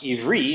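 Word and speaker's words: עברי: One speculation is that Hebrew is actually pronounced Ivri in Hebrew.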